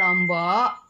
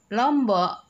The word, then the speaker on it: Lombok: dimana Lombok artinya lurus yang sebenarnya kita membacanya Lombok hanya saja dari eh apa istilahnya kalau Hai AGM Hai logat dialek-dialek dialeknya orang diluar lombok itu menyebutnya pecah membacanya Lombok jadinya Lombok Jadi ibarat seperti cabe padahal sebenarnya bukan seperti